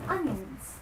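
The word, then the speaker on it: onions: अब स्पेलिंग अगर आप देखें तो इसमें ओ एन आता है लेकिन फिर भी आप इसको अनियंस नहीं कहेंगे। आप कहेंगे अनियंस इट्स सल एंड सिंपल अनियंस।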